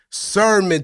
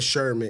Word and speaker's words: Sermon: like, listen, Bleek, listen, you cannot call that man Sherman in his face. You have to say Sermon. Yeah, but that's how you say it though, Bleek. Yeah. You've been saying it like that. That's how what I said. You say it. But again, I make it easy and say it's a church sermon, because it's spelled the same way.